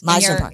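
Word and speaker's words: Mizner Park: In, how do we pronounce it again? Meisner Park. Meisner, yes. Meisner Park.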